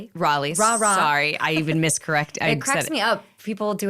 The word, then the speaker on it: Raleigh: So, you were born in Riley, North Carolina. Yes. Raleigh. Raleigh.